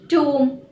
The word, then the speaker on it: tomb: Now for the rule when the letter B is not pronounced when it comes after an M. For example, comb, womb, tomb, plumber, thumb, dumb.